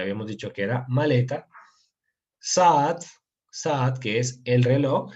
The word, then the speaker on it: saat: excepción, realmente es porque es una palabra árabe y que tiene una pronunciación un poquito diferente. Entonces, pero no se preocupen por la pronunciación, realmente. Saat sería eso, Saat.